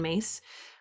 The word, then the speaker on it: Myss: resources on her website carolyn mace her last name is spelled myss and yeah she was